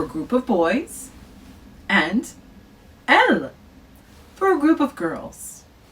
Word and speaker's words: elles: Now, elle, let's talk about elle as well. Elle is pronounced exactly the same as the singular that we did before, but we once again add an S.